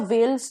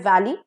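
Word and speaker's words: veil: इज वेल again there are three types of Wales that you कैन see here V ए एल ई वेल का मतलब है वैली for example the beautiful वेल of Kashmir is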